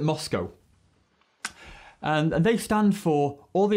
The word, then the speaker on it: MoSCoW: getting things done and it's called moscow and that's an acronym actually it's four letters and it's spelled m s c w and we call it moscow they stand for all